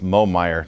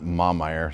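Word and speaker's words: Momeyer: who's from North Carolina it's Moe Mayer not mom eyre so I will work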